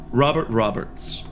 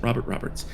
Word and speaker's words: Robert Robert: weeks in two weeks Robert Roberts leads micro Bob Bob yes sorry sorry I keep I mispronounced that his name isn't Robert Roberts his name is Robert Robert and Leeds micro into